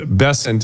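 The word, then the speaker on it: Bessent: But I got Bessant. I guess I'm being criticized for not mispronouncing his name. I guess this the syllable the first syllable is emphasized bessant.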